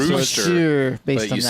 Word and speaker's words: Worcestershire: Okay, it says the first syllable is woo. Woo! So there's no R there.